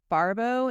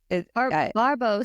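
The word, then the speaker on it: Barbot: so I don't know Barbo and sale is how yeah yeah Barbo sounds French Barba bar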